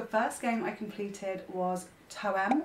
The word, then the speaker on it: Toem: The first game I completed was Toem, or Tome I think it's pronounced, and that is a